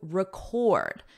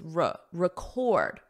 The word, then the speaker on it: record: To record. So notice the syllable stress for record is on the first syllable as a noun, but as the verb, it's record, record.